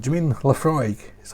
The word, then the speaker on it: Laphroaig: you l-a-f-r-o-y-g laphroaig la frog frog so there you go laphroaig again it's garlic like